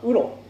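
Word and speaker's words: 烏鷺: 、一つはウロ、これウロと読みます。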